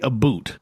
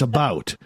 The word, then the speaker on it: about: hey what a boot I don't say a boot first off it's about so I'll pronounce this